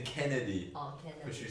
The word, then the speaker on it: Kennedy: Candy? Who's Candy? Oh, that's the one. How do you pronounce? You're saying Kennedy, Oh, but Kennedy.